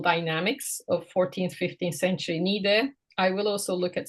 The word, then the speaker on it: Niğde: of urban-rural dynamics of 14th, 15th century Niğde, I will also look at some minor, somewhat more modest endowments at the end of the lecture.